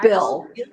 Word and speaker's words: Bihl: the Haunted Bihl or Bill. And did we learn How do you say it? Is it It's Bill, Bill Manor? like Bill. Oh, Like okay.